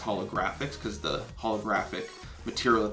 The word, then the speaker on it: HoloGrFX: a little tricky looking some people call it holograph FX it's pronounced holographics because the holographic material that they had on